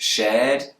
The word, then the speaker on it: shared: number five foreign shared hard and work most Brits will not pronounce the r sound but most Americans will and proud of our